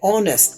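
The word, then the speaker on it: honest: ये देखिए इस लफ्ज में एच साइलेंट है। ऑनेस्ट देखिए ओ से जो एक ही आवाज निकलता है।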